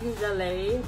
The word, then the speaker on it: gelée: or glow gelée, or I think it's pronounced like gelée because it's French, but I'll just say jelly because I'm not French.